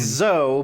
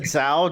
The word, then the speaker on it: Zou: off the bat so funny thing it's zoe but one time i said zao just because like i'll